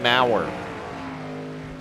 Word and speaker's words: Maurer: this guy right here i pronounced his name wrong all season it is maurer and i think i go back to the broadcast i call him did you hear about